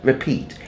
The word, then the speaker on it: repeat: the word repeat the accent is on the second syllable right Pete so it's repeat it's not repeat it's